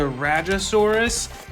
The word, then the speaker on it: Rajasaurus: I believe it's pronounced the Rajasaurus.